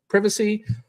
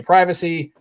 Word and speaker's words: privacy: I'm not British, so I don't say it like privacy. I say privacy. Most Americans say it that way.